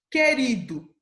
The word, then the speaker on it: querido: tá um exemplo somente querido eu falo a letra u eu não falo oi tá guloso o